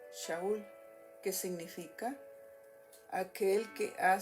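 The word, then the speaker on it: שאול: En hebreo se pronuncia Shaul, que significa aquel que ha sido llamado por Dios.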